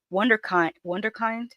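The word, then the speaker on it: Wunderkind: But the game is changed when the wonderkind or is it wonder? It's it's a German word. I I think it's pronounced wonderkin.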